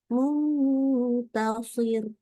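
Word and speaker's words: مُنْتَصِر: waqaf maka dibaca tetap shadnya tebal rnya tipis jadi Muntasir Muntasir jadi rnya tetap tipis ini harus hati-hati ya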